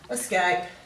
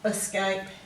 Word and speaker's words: escape: each of those words same goes for the e here it should be eject we tend to give it a schwa we go eject elope emerge escape effect whereas this should be a long e sound here escape escape and